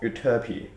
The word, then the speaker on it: Euterpe: play My arrangement of uty that is the English pronunciation of the name of an ancient Greek godess the song is from